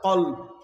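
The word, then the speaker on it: كلب: কালবুন মানে কুকুর, আরবির মধ্যে কাফ লাম বা কাল, আরেকটা হচ্ছে কলব, এটা হচ্ছে কফ দিয়ে কলব। তো আপনি কলবুনকে কালবুন বললে কি হয়ে যাবে? কুকুর হয়ে যাবে।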